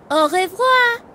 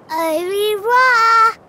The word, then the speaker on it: au revoir: How do you say goodbye in French? We say au revoir. Au revoir.